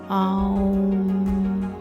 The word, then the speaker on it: ওম: করবে 27 বার ওম যেমন ওম বলি না ও টা আগে আমরা উচ্চারণ করি সেরকম না আ করবে ওম এটা একচুয়ালি ওম উচ্চারণের সঠিক পদ্ধতি ওম এরকম আর কি